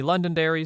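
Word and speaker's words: Londonderry: be able to guess alas Google told me London Dairy so here we are story two I made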